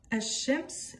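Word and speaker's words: الشمس: Ici, on va dire Ash-Shams et ici on dit El-Kamar. Parce qu'en fait, vous allez voir que la différence entre ces lettres lunaires et ces lettres solaires, c'est la prononciation.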